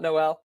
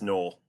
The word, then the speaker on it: Noel: It's not like Christmas. It's not Noel. Nope. He's actually came out, I think it was around the Senior Bowl time frame where he came out and pronounced his name as Noel.